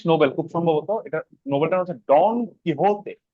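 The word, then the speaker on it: Quixote: খুব সম্ভবত নোবেলটা হচ্ছে ডন কি হতে এখানে কিন্তু এটার উচ্চারণ হল কি হতে ডন কি হতে ডন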